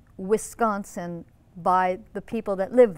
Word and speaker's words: Wisconsin: which is not pronounced wisconsin by the people that live there it's pronounced wisconsin wisconsin everything's kind of through your nose and nobody really opens their mouths and everybody kind of